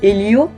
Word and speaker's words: Helios: Alors il y a Helio, avec S à la fin quand même, mais bon on ne le prononce pas, et Helios.